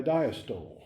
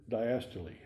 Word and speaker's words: diastole: It is followed by diastole or diastole, D-I-A-S-T-O-L-E.